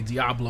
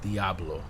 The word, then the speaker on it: Diablo: And I say Diablo like a gringo, but it is in Spanish it's pronounced Diablo, right?